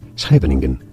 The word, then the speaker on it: Scheveningen: So here I'm in Scheveningen. Scheveningen. Scheveningen? I don't know how to pronounce it. How do you say it? Scheveningen.